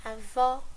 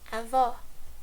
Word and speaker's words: avó: But if it's letter E plus acento agudo, the meaning would be is, so the verb to be e, avô, grandpa, avó, grandma, avô, avó, avô, avó.